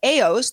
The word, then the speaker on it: AEOS: Now, last month, BioStar 2 and access control system AOS, that's spelled AEOS, AOS is used by 5,700 organizations in 83 countries, big company.